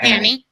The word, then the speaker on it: Hani: Yeah, Hani?